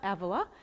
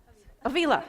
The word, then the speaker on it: Avila: And Avila is it Avila? Avila. I knew I said it wrong as soon as it came out of my mouth.